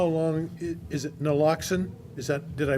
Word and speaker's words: naloxone: Just out of curiosity as much as anything else, do you know about how long, is it Naloxone? Did I pronounce it correctly? Naloxone.